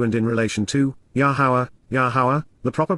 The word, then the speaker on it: Yahowah: la, according to and in relation to, Yahowah, Yahowah, the proper pronunciation of Yahowah, our Eloah, God has directed in his Torah, teaching regarding his Ha-Yeh, existence and our Shalom, restoration.